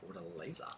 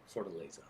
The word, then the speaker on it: Fortaleza: pronounce it correctly. Fortaleza. What the latest? It's with a Y. Fortaleza.